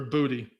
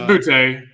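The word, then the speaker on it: Boutte: in either bouty or or well bout it's or booty. Uh it's bouty. The people up north don't know how to say it. They just don't know how to say it right. It is bouty.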